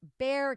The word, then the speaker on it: Bexar: so we went from 822 to 375 get this one 970 800 right oh hey carrie just she says it's pronounced bear county sorry kerry that's why